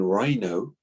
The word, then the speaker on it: rhino: In rhino, we don't quite pronounce the letter H, so it's a silent H.